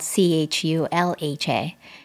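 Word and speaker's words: chulha: traditionally spelled like that it's spelled c-h-u-l-h-a chul-ha is how it's set in india that means um oven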